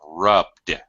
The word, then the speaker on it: rubbed: So again, Do not pronounce an extra syllable. It's rubbed.